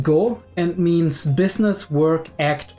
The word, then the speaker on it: 業: Right, so apparently the Waza part of Wazamonogatari is pronounced go and means business, work, act, or deed.